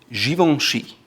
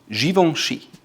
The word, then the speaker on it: Givenchy: Now going back to French, it's called Givenchy. Givenchy. Givenchy. It's a little more difficult because you have the G and the C, and it's pronounced Givenchy, Givenchy, Givenchy.